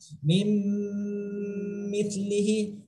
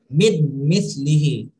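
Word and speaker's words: مِن مِّثْلِهِ: Kalau kita secara satu persatu, ya ini secara izhar, ini bunyinya akan seperti ini. Mid mislihi. Mid mislihi. Nah, itu salah. Karena kita di sini tidak dianjurkan membacanya secara izhar karena di sini berlaku hukum idgham.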